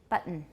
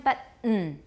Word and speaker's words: button: 那个刚刚那个发音是哪个字用的？Button, button. Everyone, button. No vowel, button. You mean? Leave your tongue there. Don't move your tongue.